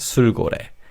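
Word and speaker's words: 술고래: Sul means an alcoholic drink and kore means a whale. So a heavy drinker in Korea is called sugore.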